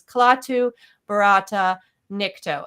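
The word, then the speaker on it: Klaatu barada nikto: Now, he's not saying it correctly. The original phrase was Klaatu, Barata, Nikto.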